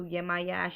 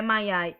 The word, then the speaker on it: Yemaya: flow of water, and just give offerings to Yemaya. She usually likes How do you shells. spell that? How do you, Yemaya, Yemaya, Yemaya.